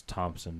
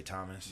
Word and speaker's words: Thompson: It's Thompson, by the way. Thompson. What'd I say, Thomas?